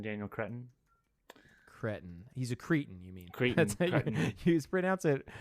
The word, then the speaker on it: Cretton: He's a cretin, you mean? Cretin. You pronounce it cretin.